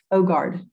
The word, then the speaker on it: Øgaard: Øgaard. It's good in English. It's not correct, but it's good.